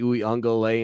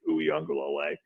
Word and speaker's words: Uiagalelei: Not going to lie to you, John, having to hear you pronounce Rook Orororo and Paul Teo here today and DJ Uiagalelei and Tyson Pumachan, I got to think before